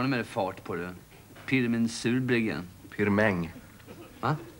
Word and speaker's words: Pirmin: Pirmin Surbryggen. Pirmäng. Va? Pirmäng Surbryggen, det är franskt uttal. Han kommer från franska Schweiz.